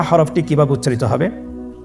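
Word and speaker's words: ح: হা হরফটি কিভাবে উচ্চারিত হবে? হা হরফটি উচ্চারিত হবে কন্ঠনারীর মধ্যখান হতে। গলা চিপে ধরে আপনি উচ্চারণ করুন।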